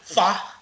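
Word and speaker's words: phở: bigkasin Okay Okay next is yung ah well fa it's actually pronounced as fa Iyung ph o PH h fo It's Fa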